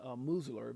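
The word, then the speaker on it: Meuser: Representative French Hill uh and oversight committee chair um um and oversight committee chair uh Congressman Dan Musler, that's how you say it, issued a final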